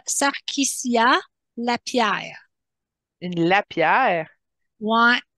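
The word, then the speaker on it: LaPierre: sarquiciia la pierre une lapère ouais mais écrit l a P majuscule I e r e c'est pas un lapère comme qu'on voit écrit ok c'est c'est un lapère qui est devenu un lapère ouais ouais ouais ok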